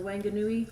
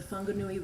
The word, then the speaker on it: Whanganui: be an expert on the wanganui or it's pronounced the whanganui river which was given or